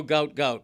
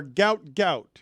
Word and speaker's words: Gout Gout: He's going to you're going to know gout gout.